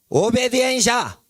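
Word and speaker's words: obediencia: 라 오베디엔시아. 라 오베디엔시아. 라 오베덴샤. 예, 그러니까 천천히 부르고 그걸 빨리 읽어버리면 그게 스페인어 발음이 되는 거예요. 자, 오베디엔시아. 빨리 해보세요. 오베디엔샤.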